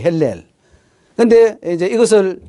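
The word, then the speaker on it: הילל: 이라고 원어는 그렇게 발음해야 돼, 헬렐.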